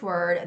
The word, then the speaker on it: word: When you are pronouncing this word, there's no l sound.